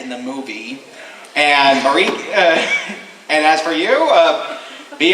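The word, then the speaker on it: Maryke: Marika, rhymes with Jamaica. Marika? Okay. Marika.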